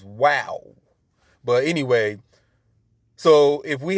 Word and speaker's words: Vav: Because V didn't have the V sound. It was the W sound. So it should read Yod Hey Wow Hey, not Yod Hey Val or Vav Hey.